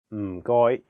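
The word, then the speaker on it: 唔該: The first character is in a very low tone, fourth tone. It sounds a bit like when someone is thinking about a plan and they say, Notice that there is no vowel in this syllable, so you have to really stress the sound. And then the second character is in a high flat tone, first tone.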